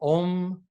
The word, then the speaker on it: Om: first line for example ohm that dot over the M makes it almost into an NG um it's a kind